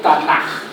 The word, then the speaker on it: Tanaj: En el Antiguo Testamento nosotros tenemos lo que los judíos llaman el Tanaj. El Tanaj, esa J que suena, se escribe K pero suena J, es el Antiguo Testamento de nosotros.